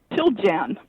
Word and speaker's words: Chiljan: So joining me now is Chiljan. Did I say it right? Chiljan. Chiljan. Chiljan. Yeah. All right. Chiljan. Chiljan, right. Chile in January.